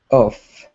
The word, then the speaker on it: off: oh yeah and then this one has a real lot of air coming out between your um teeth and lips so it's off off yeah that's much better